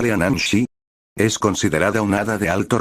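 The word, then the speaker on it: Leanan Sídhe: La leanide, que se pronuncia lean shi, es considerada unada de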